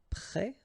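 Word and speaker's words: prêts: Then you've got prêt like that, so final S, but then of course you don't pronounce it.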